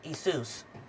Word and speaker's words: Jesus: your missions from um isus you know the J is silent anyway when Judas knew